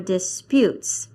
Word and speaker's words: dispute: Dis. Putes. That's right. Dispute. So how shall we say it? Disputes. Disputes or disputes? Disputes. Ah, yes, on the last one, disputes. Yes, it's on the last syllable.